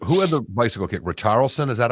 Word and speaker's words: Richarlison: But there's no R's to roll other than Richarlison. Richarlison.